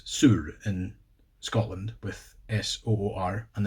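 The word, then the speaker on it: sur: S-O-O-R. The pronunciation's a bit, it feels wrong for me as I'm used to the Swedish, which is Soor, which is S-U-R, which is a real emphasis on that U, you know.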